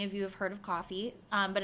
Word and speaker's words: Ko-fi: I don't know if many of you have heard of coffee, but it's spelled KO-FI. So like coffee.